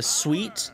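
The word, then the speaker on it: suite: know they have the can I get a sweet it's spelled like suit except with an E why does it got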